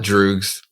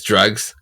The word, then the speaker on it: Droogs: It is, I call it Droogs because it's spelled like Droogs, like in Clockwork Orange. But it's Drugs because it's a remix to Anderson .Paak's song Drugs. And yeah, it's called Drugs with 2 O's instead.